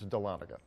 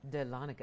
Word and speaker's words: Dahlonega: No, it's Dahlonega. Dahlonega.